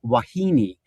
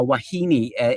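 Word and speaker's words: wahine: were a bunch of words from Hawaiian like Wahini, uh Wahini, which is spelled W A H I N E, uh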